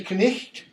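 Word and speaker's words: knight: Because we don't pronounce that, we don't pronounce that, we don't pronounce that. If we did, this would be knicht, or knigget if you're Monty Python, and this would be nicht.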